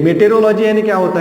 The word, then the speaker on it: meteorology: मेटेरोलॉजी यानी क्या होता है? मेटेओरोलॉजी, इसे कैसे पढ़ेंगे? मेटेओरोलॉजी, मेटेओरोलॉजी। तो शॉर्ट में मैं इसे कैसे कहता हूं? मेट्रोलॉजी। तो इसका प्रोनाउंसिएशन क्या है? मेटेओरोलॉजी।